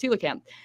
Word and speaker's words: coelacanth: a weird fish called the coelacanth pronounced hula cam that's helping scientists understand